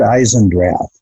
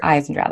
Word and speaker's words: Eisendrath: your name out loud for us it's eyes and drills eyes and drive ok I was I was pronouncing that correctly earlier and so do you